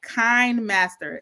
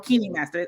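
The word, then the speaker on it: KineMaster: is it called again it's called kind Master k i n m a s t r or Keeny Master I've been heard it pronounced different ways but it's super easy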